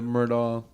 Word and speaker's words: Murdaugh: It's spelled weird too. It's like Murdo or something Yeah, like that. it's Murdaugh.